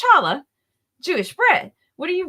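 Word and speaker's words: challah: Melanie my beautiful and tasty luses it is pronounced charala Jewish bread what are you reading right now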